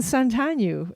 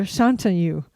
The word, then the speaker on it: Shantanu: Okay, we'll move on to our friend Santanu is coming, or Shantanu. I have to say his right. So he's changed the pronunciation of his name since he's moved to Austin. What? Has he Shantanu. changed the pronunciation of his name, or is it just that's actually how his name is supposed to be? Yeah, it's not Sean.